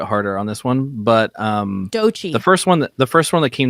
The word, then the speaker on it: Doechii: a little bit harder on this one, but Doechii. The first one that came to mind, Doechii. Yeah, is that how you say her name? Doechii.